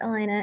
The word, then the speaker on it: Elana: it thank you Steve Elana would you like to ask your question to the team my name is pronounced Elena and um I want